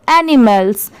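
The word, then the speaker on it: animals: एम ए एल क्या होता है? इसे बहुत सारे लोग माल पढ़ते हैं। बट यहां पर इसकी साउंड क्या है? मेल की है। तो ये एनी हो गया। ये मेल हो गया और एस लग गया तो मेल्स। अब जब इन दोनों को मिला देंगे तो एनिमल्स।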